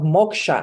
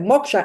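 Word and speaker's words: moksha: my trainings I bring in the concept of Moka and everybody's like what sorry I said Moka m o k s h a i spell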